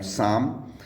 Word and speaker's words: psalm: P silent हो जाता है जब एस के पहले आता है या फिर एन के पहले आता है।